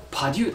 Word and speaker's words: パデュー: のこれはですパデューですねパデューって読むんですよねパデュー大学のこれ